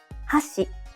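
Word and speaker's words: 箸: example if you say hasi it means Chopsticks but if you say hash it means Bridge let's hear the difference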